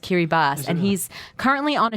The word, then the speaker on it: Kiribati: the one to go to hkey rebus written Kiribati I didn't know it's actually pronounced kiri bast and he's currently on a ship off the